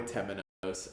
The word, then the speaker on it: Temenos: Temenos.